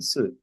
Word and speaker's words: suit: suit ser apa set eh suit bacanya suit suit Ya, suit. Sweet tulisannya sweet.